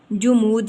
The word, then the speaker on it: جمود: جامد یا ٹھہرا ہوا، تو یہ صحیح تلفظ ہے اس کا جمود، یعنی جیم کے اوپر ہم نے پیش کی علامت پڑھی، پیش لگا دی، تو یہ بن گیا جمود، اس کے اوپر پیش